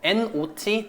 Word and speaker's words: not: 좋을 것 같은데 예를 들어서 not, not이라고 하는 거 있잖아요. not. 보통 어떻게 발음하시나요? not. not이라고 하잖아요. 미국식 같은 경우에는 이제 우리말 아처럼 not이라고 이야기를 하는데 영국식은 아가 아니라 오처럼 바뀌거든요.